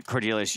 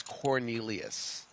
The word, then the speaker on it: Cornelius: everything with Blends anyway cordelis you're you're uh your band yeah thank you for your comment hey man by the way it's Cornelius another ten six got